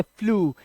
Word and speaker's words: flew: के अंदर, ईडब्ल्यू दिया हो, तो ईडब्ल्यू का उच्चारण भी यू ही करना है आपको। जैसे FLEW, तो इसे पढ़ेंगे फ्लू।